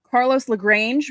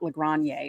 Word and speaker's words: Carlos Lagrange: Carlos Lagrange, because that's how you say his name, Bob Lorenz. It's not Lagrange or whatever you were saying.